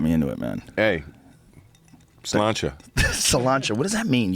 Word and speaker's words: sláinte: It's sláinte. It's like SLAINTE with like one of them crazy marks on it.